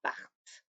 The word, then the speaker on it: partent: Ici, j'entends le T, mais pas le ENT. Il, elle partent.